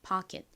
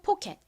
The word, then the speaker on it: pocket: P는 피읍 소리 나고 여기서 O는 소리가 납니다. CKET는 미국식 원어 발음으로 kit이라고 발음된다고 말씀드렸죠. 그래서 읽어보면 pocket이 됩니다. pocket. 한국식으로 pocket, 미국식 원어 발음으로 pocket이라고 발음하는 이 단어 의미가 뭔가요?